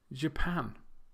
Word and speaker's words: Japan: You may have noticed that the last 2, Brazil and Japan, have the stress on the second syllable, whereas the first 3, Russia, Thailand, and China, have the stress on the first syllable.